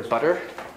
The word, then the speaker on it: butter: before an unstressed syllable in north american it sounds kind of like a d like a little bit of bitter butter a little bit of